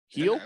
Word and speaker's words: Hield: What did Buddy Heal? Here, boy. Heel.